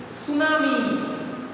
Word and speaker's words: tsunami: Here T is silent. Okay, it's not a tsunami, it is a tsunami. T is silent here.